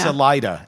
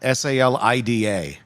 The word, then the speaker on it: Salida: Is it Is it Selena or is it Salena? Salida. S A L I D A. Really? See, I would have totally pronounced it the other way.